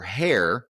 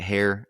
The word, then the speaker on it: heir: Sabine defames Ethan, because that's what we do, and declares Sigrid as her heir. As Heir? It's heir, but like I think the British pronounce it hair.